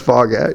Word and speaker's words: Foghat: You know it's Foghat. You pronounced it wrong.